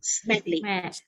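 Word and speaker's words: Smedley: last name it is said as smith lee smedly now this word always get confused with the malay pronunciation but the english pronunciation of it is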